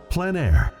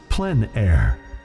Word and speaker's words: plein air: of outdoor painting called plein air the French coined the term which means open air or outdoors the French pronounced it plan air others say plein air no matter how you